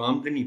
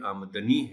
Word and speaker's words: آمدنی: بھی نظر آئے۔ آمدنی، ہم عام طور پر اس کو آمدنی پڑھتے ہیں لیکن یہ آمدنی ہے۔ مختلف تے پر زبر